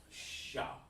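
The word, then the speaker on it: ש: that's is a shot it looks like a w but it's actually pronounced sha okay and over here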